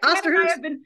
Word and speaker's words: Osterhus: So, um now I get to introduce my first guest, Osterhoudt, is that right? Yeah, you got it right. Osterhoudt. I think Dan and I have been pronouncing it wrong and then I realized I think it's not what I'm saying.